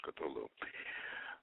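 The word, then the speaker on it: Cthulhu: the well of course there's several different ways to pronounce cthulu but most I think most everybody says cthulu uh and uh cthulu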